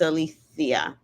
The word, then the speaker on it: Alethea: And her name is not Alicia, it's Alethea. Alethea. Oh, she's probably like Greek or something because I think that's the only place where you pronounce the CIA with a THE.